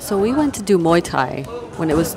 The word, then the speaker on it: Muay Thai: Muay Thai. Muay Thai.